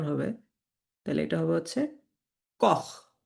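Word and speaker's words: Koch: সেহায়ের আগে যদি আ ও উ এই তিনটা লেটার থাকে আ ও উ এই এই তিনটা লেটার থাকে তখন আপনাকে এটা খ এর মত উচ্চারণ করতে হবে যেমন উ সেহা কি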